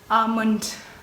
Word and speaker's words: almond: zo khante lore chidi almond lenti do ine di l do l di silent re almond the next word the